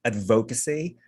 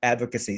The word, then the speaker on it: advocacy: i do have now i like that you put the correct stress uh on the syllable the first syllable of the word advocacy because a lot of a lot of filipinos would say advocacy but it's actually on the first syllable advocacy so bravo yeah i'm